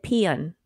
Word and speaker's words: paean: It said peon in the peon. Phonetically peon. Oh, okay, peon.